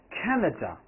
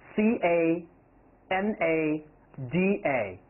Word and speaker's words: Canada: very important for example canada canada india c a n a d a we often put stress on the first one canada canada canada all